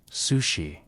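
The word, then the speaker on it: Cixi: Sixie, pronounced sushi, entered the imperial palace at age 16 as a lower ranking concubine to the Sean Fang Emperor.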